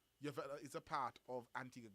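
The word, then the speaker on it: Antigua: So for example, Yella is a part of Antigga Girls Guides. That's right. That's how it's pronounced, right?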